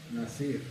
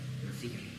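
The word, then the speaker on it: נזיר: Nasir. Nazir, así es.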